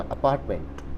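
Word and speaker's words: apartment: दोस्तों नेक्स्ट वाला य अपार्टमेंट आर नहीं बोलना अपार्टमेंट ठीक है क्योंकि जब भी आर एक वर्ड है इसके आगे वोल मिल जाएगा तो आपको आर को साइलेंट कर देना है यह इंग्लिश का रूल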